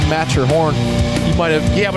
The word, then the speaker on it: Matterhorn: I thought it was like Matheron or something like that. I mean, it's pretty clearly Matterhorn.